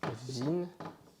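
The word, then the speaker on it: він: Et la lettre que vous voyez là ce n'est pas le H mais c'est le N. C'est un N qu'on écrit en H. Donc voilà, la lettre V à la lettre N. Donc ça se prononce vin et ça veut dire il pareil pour vona.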